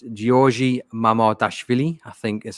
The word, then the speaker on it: Giorgi Mamardashvili: but listeners and viewers know I'm awful at pronunciations. But it's Giorgi Mamardashvili, I think is how you pronounce it.